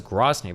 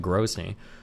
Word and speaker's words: Grozny: I thought it was Groney, but he's pronouncing it Grony.